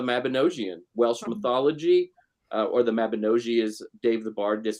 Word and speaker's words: Mabinogi: based on the mabinosian Welsh mythology or the Mabinogi is Dave The Bard this told me is the correct pronunciation but so there's like this really kind